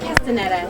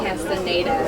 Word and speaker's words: Castaneda: And it's Frank Castaneda, not you said Castaneda or something like that. Just saying. Oh, so he doesn't pronounce it the Spanish way, huh?